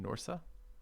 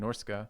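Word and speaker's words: Norsca: like and son some norsu you just ignore the C I assumed I pronounced um norske like norske because there's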